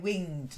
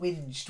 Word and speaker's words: winged: better good and then winged not whinged whinged is with an hinged okay ringed that is